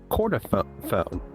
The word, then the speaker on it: chordophone: Chordophone.